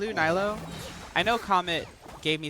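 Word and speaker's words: Nilou: Opinion on, I don't know how to say her name, Nilo?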